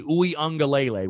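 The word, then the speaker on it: Uiagalelei: going to point to quarterback and say dj uengalele which by the way kudos to me and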